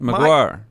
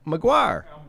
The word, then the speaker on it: McGuire: just got the name wrong you you just mispronounced the name marquette yeah but maguire maguire i said mcguire you said mcgraw no i